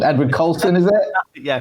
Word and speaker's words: Edward Colston: For obviously chucking the statue of now I'm going to get his name wrong. Edward Colston, is it? Yeah, Colston.